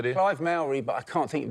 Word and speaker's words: Myrie: I was just thinking, Bridget Jones doesn't rhyme with Myrie! Of course, it's diary!